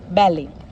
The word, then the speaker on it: ballet: Gourmet, ballet.